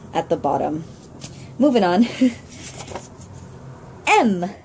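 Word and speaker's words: М: the bottom moving on M like my first name it begins with an M now it's like the English alphabet when we say m so just this is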